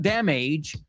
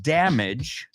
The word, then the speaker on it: damage: And I want everybody to pronounce this word with me because it's not damage. It's rima con bridge. Vamos a decir, there was a lot of damage on the bridge.